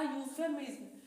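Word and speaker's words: euphemism: तो 14 नंबर है हमारा यूफेमिस्म। यूफेमिस मतलब यहां पर इ जो है यहां पर हमारा साइलेंट है यहां पर। तो इसको हम यू से प्रोनसिएट कर रहे हैं।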